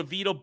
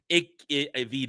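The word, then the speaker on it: Evita: In defense of Rachel Zegler and Jamie Lloyd's controversial Avito balcony scene, Avita, I said, I know I just said Avito. Don't yell at me for mispronunciation.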